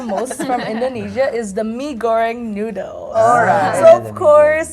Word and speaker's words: mee goreng: Mee goreng. Mee goreng.